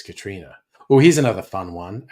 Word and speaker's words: Catriona: I suppose some weirdos might try and say Catriona, but I thought that's obvious, Katrina.